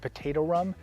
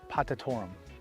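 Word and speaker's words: potatorum: myself is i was calling this uh agave potato rum in my earlier video there's cuprietta there's in a cadence there's potato rum totally not what it's uh how it's pronounced the correct pronunciation is patatorum but this one coming up was incredible i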